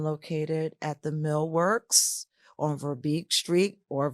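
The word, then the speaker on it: Verbeke Street: I'm located at the Millworks on Verbeek Street or Verbeck Street. I've Yeah. heard it pronounced Yes. both If you're from ways. Harrisburg, it's Verbeck. Verbeck.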